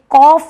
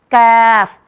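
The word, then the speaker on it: كاف: कैफ, जैसे बच्चे कैट, कैट बोलते हैं, उसी तरीके से यह लेटर निकलता है।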